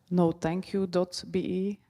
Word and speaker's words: nothankyou.be: It's called nothankyou.be. It should be pronounced like no thank you, but it doesn't read like that.